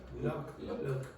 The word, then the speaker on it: look: Like, for example, I don't distinguish between those two vowels. Say those two words for me. Look. Now listen to the way I say it. Look, look. Now, I promise you, what you What's the did, difference between the name of Luke? this is different for me. I would say Luke. Luke for this.